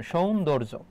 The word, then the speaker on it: সৌন্দর্য: সৌন তারপর হবে দৌর। তারপর হবে জ। এটা হচ্ছে তোমার উচ্চারণ। সৌন্দর্য।